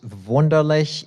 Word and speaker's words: Wunderlich: My last name, Wunderlich. In German, it's pronounced Wunderlich. You will hear it both ways in this poem.